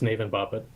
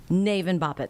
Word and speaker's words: Navin Bapat: UNC Chapel Hill professor Navin Bapat, I believe. Correct me with the pronunciation, Professor. Yes, it's Navin Bapat. Navin Bapat.